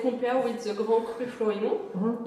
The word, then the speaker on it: Florimont: The pronounce is Florimont.